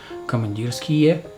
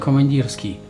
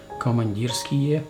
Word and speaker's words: Komandirskie: session but at least you know how to pronounce those two words commandeer ski and Stormin ski not command us key and storm on ski commandeer ski and too much skill okay now speaking about